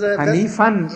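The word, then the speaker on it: حنيفا: Because Hanifan is the word, because when it's used when it happens in the end, then you don't pronounce the tanween, that is noon part.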